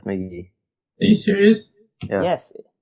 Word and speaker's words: Casey McGehee: By the way, the Giants just designated for assignment Casey McGehee. It's just McGee. Yeah, it's McGee.